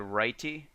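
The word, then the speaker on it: Writee: So the theme that I selected to install is called Righty.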